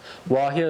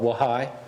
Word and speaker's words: Wahia: Wahia is wolf. Sometimes they call it Wahai. Just depends on what community, but they spell it the same.